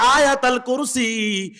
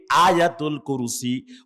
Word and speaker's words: আয়াতুল কুরসি: 255 নম্বর আয়াত, বাঙালিরা বিকৃত উচ্চারণে যারে কয় আয়াতাল কুরসি, কিন্তু এটার এক্সাক্ট প্রনাউন্সিয়েশন, এটার প্রকৃত উচ্চারণ হচ্ছে আয়াতুল কুরসি।